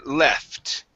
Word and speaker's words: left: go to the word left okay make sure to pronounce that t Okay so had some